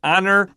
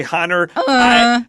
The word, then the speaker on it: honor: Explosion I guess so be careful with the word honor I have heard people say hunter I agree I didn't